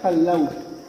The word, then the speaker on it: Callao: at napakalamig dinan shoutout nga pala sa aming tour guide si or kilala po siyang kallaw ma'am paano pronounce niya kalaw kalaw ito po ay yung name po ng